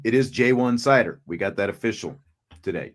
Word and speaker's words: Ja'Juan Seider: the house he was asking for the official pronunciation it is jwan cider we got that official today jayan cider is